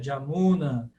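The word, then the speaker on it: Yamunā: errada a pronúncia Jamuna, está errada a pronúncia Guiana. Não estão exatamente erradas. Essas são pronúncias contemporâneas. É como os indianos falam essas palavras. Na Bengala se fala assim, porque o sânscrito teve transformações, então nas línguas neossânscritas hoje faladas na Índia, esses sons mudaram.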